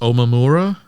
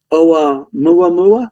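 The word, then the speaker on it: ʻOumuamua: I think it's pronounced Omamura. Oumuamua, maybe? Something, something Yeah, like okay.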